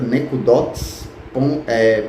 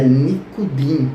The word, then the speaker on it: nikudim: Alguém pode dizer, mas irmão Érico, não é a pronúncia correta nekudots, pontos? Não. Se você for pesquisar lá em Israel, numa biblioteca, você vai ver que o certo é nikudim, pontuações, que é o plural de nikud, pontos, ok?